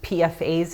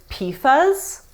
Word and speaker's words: PFAS: papers and government documents saying pfas in my head when the actual pronunciation is pifas I know so deceiving